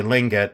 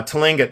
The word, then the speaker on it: Tlingit: know and I I think it's pronounced Tlingit some people say lingot but I think it's Tlingit uh Tlingit tribe and then the